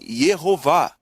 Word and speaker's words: Yehová: Isso significa que o nome deve ser pronunciado, na verdade, Yehová.